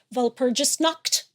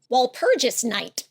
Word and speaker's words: Walpurgisnacht: wondering, the day after Walpurgisnacht. I know I pronounced that incorrectly. Walpurgis night.